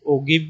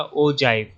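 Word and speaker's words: ogive: ओजाइव को आप कई लोग ओगिव भी बोलते हैं, लेकिन इसका सही से प्रोनाउंसिएशन होगा ओजाइव।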